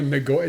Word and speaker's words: Nicoya: Doesn't know Nagoya?